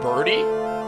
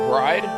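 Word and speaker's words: Byrde: res sub oh her her name is pronounced birdie not bride it's birdie oh it is birdie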